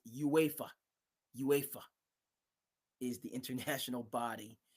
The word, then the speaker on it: UEFA: super league and uh, I pronounced it wrong. My buddy says it's UEFA.